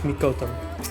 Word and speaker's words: Mikoto: I was saying Miko. It's Mikoto. Close.